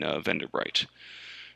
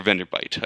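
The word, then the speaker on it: Venderbight: the tomb colonists in Vendorbright. Or Vendorbyte. I will be calling it Vendorbright until I remind myself that I'm pronouncing it wrong.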